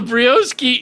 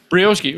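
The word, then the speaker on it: Brioschi: Brioski is like the precursor.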